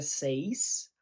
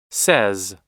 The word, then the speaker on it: says: E aí, cuidado no say que não vira seis. A pronúncia é s. says.